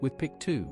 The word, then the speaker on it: WFPC2: So NASA commissioned the construction of a replacement camera, the wide field and planetary camera 2 or WFPC2 pronounced with PIC 2 by the astronauts and engineers.